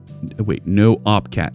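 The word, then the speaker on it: nohup cat: It's pronounced Noopcat.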